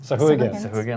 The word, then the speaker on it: Sahuagin: from, our mer people, our sea elves, our Swiggins. How do you say it? Sahuagin, I got it right.